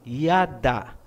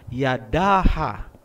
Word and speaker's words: yada: Kasi ang a binibigkas kung may susunod pang syllable. Kung wala ng susunod na syllable pagkatapos ng last letter, hindi na po bibigkasin ang tunog na a. Gaya halimbawa ng salitang yada. Ang ibig sabihin niyan ay praise o pagpupuri. Hindi po binabasa na yadaha.